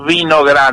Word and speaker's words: Winograd: Nosotros decimos Winograd, no Wi, sino Vi, porque mi abuelo vino